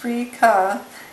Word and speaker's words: Freekeh: Because the only ingredient in it is, let's see, green wheat Freekeh, pronounced Freekeh, is 100% Australian grown wheat.